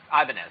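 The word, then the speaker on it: Ibanez: Albadez. Am I saying Am I saying it right? All right. Albanz. Abanz. I don't know. It doesn't matter. It's a super nice guitar. Ibanz. Ibanz.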